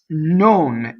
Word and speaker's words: non: So now, non, N-O-N, is a closed O.